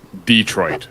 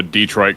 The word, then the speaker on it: Detroit: So I wanted one that was specifically from Detroit, as they call it. All the foreigners to Detroit call it Detroit. They put the emphasis on the other syllable.